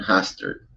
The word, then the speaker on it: Hostert: I can never say her last name. Carlin Hostert. Hostert. I'm going to say it right correctly from now on.